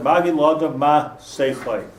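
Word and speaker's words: מגיד לאדם מה שחו: Amos Hanavi spoke of, and he said, "Magid la'adam ma'seicha." That's the correct way to pronounce that.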